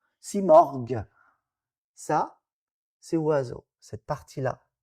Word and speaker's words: Simorgh: Marara, c'est Murr à la fin, que nous on prononce morgue. Si morgue.